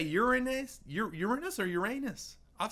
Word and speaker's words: Uranus: the planets the neem how do you say Uranus Uranus that's how they taught you to say it in school yes say it again Uranus Cleo taught me